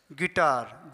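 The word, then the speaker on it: guitar: Guide गिटार जी यू आई है तो आई को पढ़ेंगे। यू को नहीं पढ़ेंगे।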